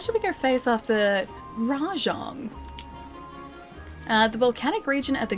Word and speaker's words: Rajang: Rajang is not Mahjong? I know, but it's like, that's the way that he's pronouncing it, right?